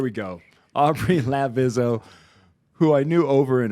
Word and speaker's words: Lavizzo: and our guests today Aubry La vizo I still said it wrong I knew I was lavizzo lavizzo that's right there we go Aubrey lavizzo who I knew over